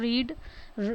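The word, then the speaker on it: read: ये sentence past में है, रीड मतलब लिखा तो सेम जाता है लेकिन प्रोनाउंसिएशन थोड़ी सी अलग होती है, रेड।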